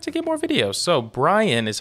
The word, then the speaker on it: Brien: I just expect to get more videos so Brian is how you pronounce his name b-r-i-e-n song is called Fine